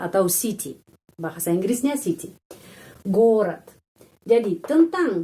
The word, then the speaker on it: город: Terus penekanan di huruf O. Jadi huruf O lebih panjang daripada huruf vokal dalam kata ini yang lain. Gorat itu kota, ya, atau city. Bahasa Inggrisnya city. Gorod.